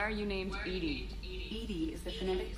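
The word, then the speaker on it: EDI: a jar where are you you named Ed Ed is thetic pronunciation of e that is an acronym for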